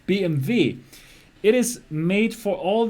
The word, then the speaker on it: BMW: Benz it's made for BMV yes that's how you pronounce it not BMW BMV it is made for